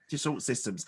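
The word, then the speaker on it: Dassault Systèmes: So was it, I don't know how to pronounce, Dassault Systems? Yes. Dassault Systems.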